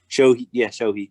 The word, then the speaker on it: Shohei: pronounce it? I don't Shoe. know. You probably called him Shoe. Shui? Shoey. Shohei, yeah.